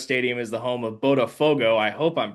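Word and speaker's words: Botafogo: For those that don't know, uh Milton Santos Stadium is the home of Bodafogo. I hope I'm pronouncing that correct correctly.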